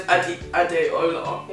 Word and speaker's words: Adeola: Yeah, they just drop the A. Yeah, like even my dad doesn't even spell it with an A. But they say it really fast. Yeah. Because my name's Adeola.